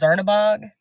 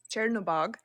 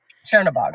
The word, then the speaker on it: Chernobog: So can you tell us more about, I'm probably not pronouncing this, Zernabog? Yeah, so it's Chernobog. Chernobog, okay.